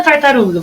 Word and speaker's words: tartaruga: E na tartaruga? Vamos chamar a palavrinha. Tartaruga. Uru, né, gente? Durou mais.